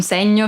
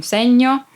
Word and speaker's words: segno: Give me a signal, fammi un segno. Be careful not to say segno, but segno, because there's no I. And basically, in Italian, there is no word with both I and O after ñ.